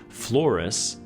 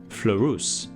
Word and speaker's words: Fleurus: By the way, I've heard this ship's name pronounced the anglicized way, Fleurus, and also the French way, Fleurus.